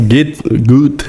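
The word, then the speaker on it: Goethe: Eh, o maior autor alemão, o o Gut, é assim que pronuncia, né? A gente fala G, né? G.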